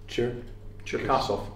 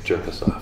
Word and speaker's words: Cherkasov: How does it pronounce? Oleg Cherkaso. Cherkasov. Cherkaso. Okay, I thought it was Jerkasov. No. No. No, Devon, no. It's not Jerkasov.